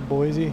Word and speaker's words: Boise: Boise, that's how it's pronounced.